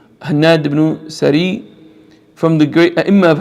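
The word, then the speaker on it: Hannad ibn al-Sari: Hannad ibn Saray, very important, or Sari, is correct pronunciation. Hannad ibn Sari, from the great A'imma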